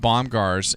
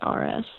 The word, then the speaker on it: Bomgaars: But tell me about Baumgars and what you were selling there. Am I saying it correctly? Yeah. It's Bomgaars.